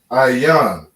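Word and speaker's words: עין: And we pronounce that Ayan. All right. You have an I, a ya, and a na. Ayan.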